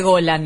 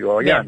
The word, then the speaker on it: Gollan: De origen irlandés, ¿no? Escocés. Entonces se pronuncia así, pero en realidad ya está todo castellanizado, así que para los porteños soy Goyan, pero en Córdoba soy Goyan, así que digamos, según como lo pronuncie la L cada uno.